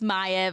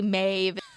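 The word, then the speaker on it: Maiev: I know it's Maev. I just say Maeve. Sharing a piece of paper. I know I say Maeve. It's Maev.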